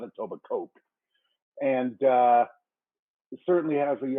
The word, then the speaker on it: Etobicoke: Hopefully I pronounced that right, Marco, from Audi Queensway in Etobicoke, Ontario. See, I know how to pronounce that, not Etobicoke.